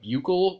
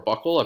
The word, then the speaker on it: buccal: They actually use like a buccal or a buccal. I've heard it pronounced either way, a buccal pump, and it's in their throat.